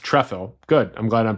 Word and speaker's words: Trefil: On March 14th, Galina writes again, "People have been asking about the diary collection of John Tffle, pronounced Trefle."